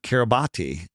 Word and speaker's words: Kiribati: So, and then all it said was registered at the nation of Kiribati. Now, it's called Kiribati, but it's spelled Kiribati, Karibati.